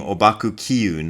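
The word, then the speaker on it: Ōbaku Kiun: The first one being Obaku Kiyun, that's how I learned his name, who is most commonly known by the Mandarin pronunciation, I believe this is a Mandarin pronunciation, Huangpo Xiun.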